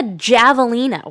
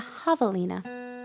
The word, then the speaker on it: javelina: And I was like, what's a javelina? What on earth is a javelina? Silly me, like not realizing it was a soft J, like in Spanish. It's a javelina.